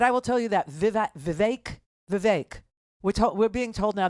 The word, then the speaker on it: Vivek: hard part no no it's the Vivek part that's hard because there's an e in it right but they're saying it rhymes with cake the vague and Ron